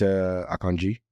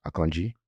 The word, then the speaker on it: Akanji: season or is it aangi uh that's akanji by the way I pron I just pronounce it the correct way which is akanji okay yeah so it's